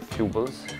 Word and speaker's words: Fubles: Alcuni lo pronunciano all'inglese, Fubles, altri lo pronunciano all'italiana, ma di fatto è il passaparola quello che lo fa circolare.